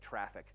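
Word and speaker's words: Traefik: I'm sorry traffic and it's spelled tra e fi K and so could go Google it you're gonna end up with junipers network so it's TR AE fi K traffic this is a combination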